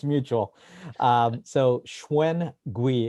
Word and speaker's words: Shwen Gwee: it's mutual um so schwein gui it's very phonetical it's actually pronounced exactly how it's spelled perfect very easy eugene